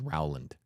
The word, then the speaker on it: Rowland: apologies no we did have that Joshua JJ Rowland or Roland it's Rowland pronounced r-o-w-l-a-n-d so apologies a little behind on that